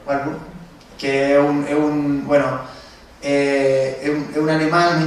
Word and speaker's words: Warburg: Nosotros vimos el trabajo de Enrique y dijimos, bueno, esto se parece a Avi, bueno, ¿cómo lo pronuncias tú? Ubar, pero yo digo Warburg, que es un alemán